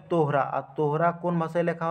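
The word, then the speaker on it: Torah: এখানে তোরা উচ্চারণ আছে। কিন্তু এটা একচুয়ালি হবে তোহরা।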